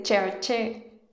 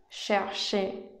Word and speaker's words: cherché: La CH no se pronuncia como en español tampoco. Es un sonido más similar a SH. No se dice cherché, sino cherché.